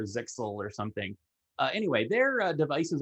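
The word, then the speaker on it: Zyxel: to say this um i think i'm going to say uh zai kahel because i know that's not how it's pronounced i think it's sisal or zixel or something anyway their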